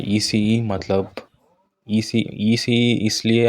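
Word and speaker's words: ICE: ये होता है ईसीई, मतलब ईसीई इसलिए आप लोग सोच रहे होंगे कि आई को ईसीई क्यों बोल रहे, जर्मनी में आई को ई प्रोनाउंस करते हैं, तो ये है इंटरसिटी एक्सप्रेस।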